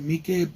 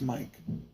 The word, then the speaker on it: Miike: horror Takashi Miike and I've heard people pronounce at me Cape I'm pretty sure it's Mike because I think I've heard him talking he says it's Mike maybe I'm wrong I don't know anyways